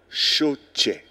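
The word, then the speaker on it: Shotshe: Lushima Choche. C'est-à-dire, ça s'écrit S-H-O-T-S-H-E.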